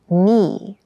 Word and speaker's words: knee: it feels quite hard keep in mind yes this word begins with a k in spelling but the pronunciation is knee the boy fell and